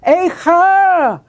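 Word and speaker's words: אֵיכָה: or scream repeated there, but no longer as a monosyllable, eich, but now two syllables, which makes it even more terrible. Eicha!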